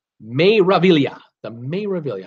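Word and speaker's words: Meraviglia: and it's you know those names don't pronounce the G means wonder may reveal iya the may reveal you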